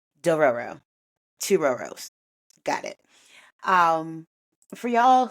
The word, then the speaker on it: Dororo: anime known or called doorero do ro I think it's three syllables. I'm double checking myself. It is definitely door two rows.